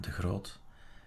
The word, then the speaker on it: de Groot: is adrian the groud that's how you pronounce it in dutch adrian de groot is the correct pronunciation